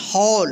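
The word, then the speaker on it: hall: हॉल।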